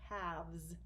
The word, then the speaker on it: halves: be called halves and don't forget that L it's kind of a silent L halves you don't hear the L but you'll need to remember it let's look at B